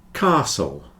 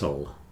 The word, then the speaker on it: castle: a d card car Castle or cast Castle or Castle various pronunciations of the a depending on where you come from the more common English pronunciation is with a long Castle sound whistle and listen you